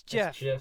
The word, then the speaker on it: GIF: that gif yeah GI true it's GI it's Jeff all the bloodsheds in human history have been